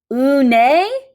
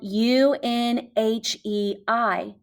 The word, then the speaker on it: Unhei: "Une?" the girl asked, scrunching up her face. Une? Some kids chanted. No, Unhe corrected. It's spelled Unhei. It's pronounced Unhe.